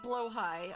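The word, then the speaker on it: Blåhaj: spelled like this oh it's technically blow High okay I mean all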